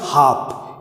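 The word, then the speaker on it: half: आधे घंटे जिसे बोलते हैं 3:30, 4:30, आधे घंटे के लिए एक वर्ड यूज करते हैं जिसमें है हाफ, यहाँ पे एल साइलेंट।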